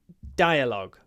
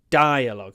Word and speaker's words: dialogue: one PR read this dialogue between a waiter and a customer dialogue what word did I have yes I did have customer good oops uh dialogue dialog dialogue stress on the first syllable dialogue dialogue the next